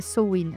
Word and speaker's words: Samhain: Bah alors déjà si on prend le commencement à mine, on appelle sa mine la samin soin, sa vraie prononciation c'est soin, mais vous allez m'entendre la prononcer de plein de façons différentes.